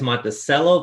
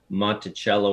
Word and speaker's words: Monticello: So I don't know why it's Monttoello versus cello, but uh that's kind of the the wellspring of the name. And you've told me before that there's only one Monttoello. every other place is pronounced it the way Jefferson did.